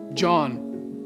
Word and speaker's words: John: Com aquele J de pronúncia em inglês. John.